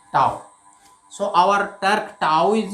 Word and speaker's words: tau: तो यहाँ हम टर्क के लिए टर्क का सिंबल ऐसे लिखते हैं, ये प्रोनाउंसिएशन है टाउ, इसको प्रोनाउंस करते हैं टाउ।